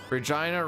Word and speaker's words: Regina: Regina rhymes with vagina, and that's where you get all of the fun.